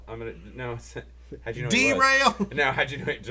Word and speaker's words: Darrell: Here we go, Kenny, pronouncing a African American name. That's Darrell. How'd you know? Derail.